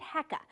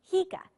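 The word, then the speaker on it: HECA: its name is controversial we have long called it heka but recently that pronunciation has become contentious so for the purposes of this story we'll call it what the developer calls it hika short for hydrogen energy california 23 miles west of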